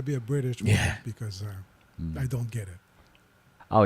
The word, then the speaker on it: Ewell: call here Ewell yeah they call it what Ewell why spelled e w e l l yeah I'll show you in the chat but it's U cuz EU is U yeah because why wouldn't